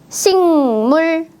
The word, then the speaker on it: 식물: 읽었어요 식물 아니에요 식물 식물 어때요 받침에 그 자음이 뒤에 있는 무 비음을 만나서 식물이라고 바뀌었습니다 그 자음은 응 받침으로